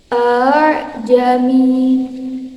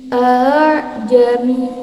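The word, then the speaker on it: أأعجمي: Ingat, cara membacanya adalah dengan membunyikan hamzah seperti huruf H yang samar, yaitu antara bunyi hamzah dengan bunyi alif. A'jami, A'jami.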